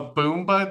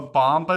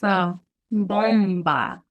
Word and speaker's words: bomba: a boomba dancer? A bomba dancer? How do you say that? So it's bomba.